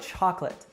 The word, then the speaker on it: chocolate: respect now how about chocolate actually a couple interesting things happen here now the stress is on the first syllable chalk and the last syllable is unstressed now what about the second syllable we actually drop the